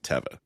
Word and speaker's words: Teva: just so everybody knows, it is Teva. It's not. I mean, it doesn't matter. Like, no, if I know. I get it. This is a Hebrew word. It is Teva. However, everyone pronounces it Teva.